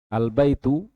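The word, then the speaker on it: الْبَيْتُ: alif lam ini jadi ketika belum ada AL lafaznya baitun nah ketika ada ahinnya albaitu jadi alif lam itu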